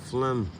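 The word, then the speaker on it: phlegm: burger or is it flim but how do you spell flimsy said how do you spell flim p h l e g m but we don't pronounce the G in flim I was trying to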